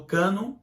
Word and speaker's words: cânon: A formação do cânon do Velho Testamento obedeceu certas medidas e padrões diferentes das usadas para o cânon do Antigo Testamento.